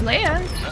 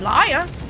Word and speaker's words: Laya: you know you know my name is Leia oh Leia people still call me liar you know what I